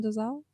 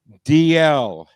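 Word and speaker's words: Dalziel: love this part ryan desal dl that that said you say that dl yes ryan dl you do not pronounce the z we've been we've been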